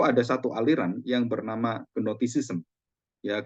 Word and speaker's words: gnosticism: Nah, sebelum kita belajar firman Tuhan dan khususnya sejarah gereja, itu ada satu aliran yang bernama gnosticism, ya, gnotis atau notis ya, kalau bacanya tuh G-nya nggak dibaca, gnosticisme.